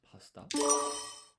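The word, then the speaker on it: パスタ: So you don't pronounce the U in su. It's pasta.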